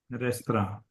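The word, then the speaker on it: restaurant: टी के बिना तो पढ़ के रेस्ट्रो देखिए। रेस्ट्रो रेस्तरा। रेस्तरा। फ्रेंच त्रा ज्यादा बोलते हैं, ट्रा नहीं बोलते।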